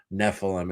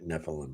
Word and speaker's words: Nephilim: You're really going to not like the Nephilim, Sam. Nephilim. It's spelled Nephelim, right? Nephilim, yeah.